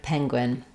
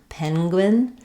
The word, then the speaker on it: penguin: Penguin. Uh, but you'll often hear people pronouncing it with the letter N saying the NG sound.